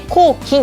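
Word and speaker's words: 咬筋: 噛む筋肉と書いて咬筋と読むんですね。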